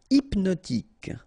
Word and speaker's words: hypnotique: Hypnotique. Remember, at the end, Q-E, K, tic. So, H is not pronounced.